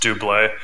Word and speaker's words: doublet: Why do you conceal a blade within your doublet? Doublet? Is that what it is? Doublet? It's just pronounced doublé. Doublé? Yeah, it's a French word.